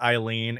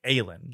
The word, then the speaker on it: Aylin: And it does bother me to have to say Eileen because every time I see her name, which is spelled Aylin, I want to say Aylin, from Baldur's Gate 3.